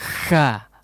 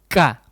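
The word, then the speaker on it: ك: melunak ya atau lemah menempel tapi lemah ya Sehingga bunyinya harga kah Hahaha itu tidak tidak seperti itu huruf kaya tampil tempelkan kuat kah kah kah seperti itu ya Ki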